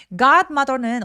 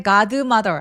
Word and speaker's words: godmother: 그러면 지켜주는 요정 대모 나를 지켜주는 사람 god mother 할 때 god드 mother 아니고요. god mother요 d는 디귿 받침 정도로 가볍게 처리하고 바로 m으로 넘어가 주세요.